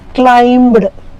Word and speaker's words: climb: is there at the r end like that climbed it's climbed climb here again the bee is silent for certain words like the like thumb